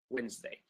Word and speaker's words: Wednesday: Wednesday. Again, you added the D that I did not say. I didn't say Wednesday.